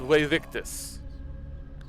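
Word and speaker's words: Vae Victis: Although it's supposed to be apparently pronounced "Way Victus," but that just sounded goofy.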